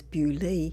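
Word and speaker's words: Beaulieu: dark the location is bolu which is locally pronounced as bu Abby in Hampshire England The Abbey was established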